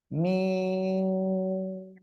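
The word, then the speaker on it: ميم: এ অক্ষর এই যে দুই ঠোঁটের শুকনো জায়গা থেকে উচ্চারণ হবে। মিম, মিম, ঠিক আছে।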